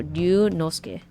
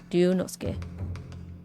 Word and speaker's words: Ryunosuke: pronouncing it right, but it's a long U, so it's like a double syllable U. So Ryunosuke. Ryunosuke. Ryunosuke.